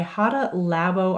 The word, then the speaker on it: Hada Labo: The moisturizer that I have been loving is by Hada Labo, I believe is how you say it.